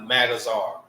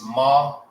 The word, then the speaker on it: Magazar: It's Ma, right? It's not Mag. I hear a lot of people say that too. Magazar. It's not Magazar. It's Magazar.